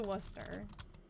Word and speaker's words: Worcester: He went to Worcester. I don't know if that's how you say it there, but in Massachusetts, that's how you say it.